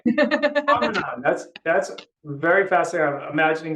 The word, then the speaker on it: Tahquamenon: Tell me how you pronounce what is it? Tahquamenon. Tahquamenon. Tahquamenon. Tahquamenon.